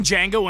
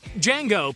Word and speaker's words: Django: Django, played by Jaime Fox, does as the man asks. And upon spelling it out, he tells the man that the D is silent.